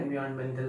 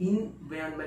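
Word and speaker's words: environment: एनवायरमेंट, इन्वायरमेंट नहीं बोलेंगे, एनवायरमेंट, एनवायरमेंट, एनवायरमेंट। वहां पर जो आर होता है, आर का प्रोनाउंसिएशन हो ही नहीं रहा, एनवायरमेंट, एनवायरमेंट, एनवायरमेंट।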